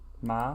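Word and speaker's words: 맛: and then math M ma m but there's an s in it you just don't don't pronounce the S ma okay well we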